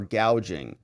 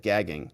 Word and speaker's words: gouging: mimes that plagued the country NY says she mispronounced price gauging or gouging so she called it gagging you know kamla knows about that she knows